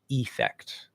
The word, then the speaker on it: effect: But usually when we have an E, the E vowel, the long E, in an unstressed syllable, it almost always gets reduced, like believe, receive, effect. Okay. It will almost always reduce to like so we have affect, believe, receive.